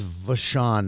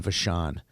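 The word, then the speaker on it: Vachon: like bishof or something no no that was vashan is the his linemate okay VA I thought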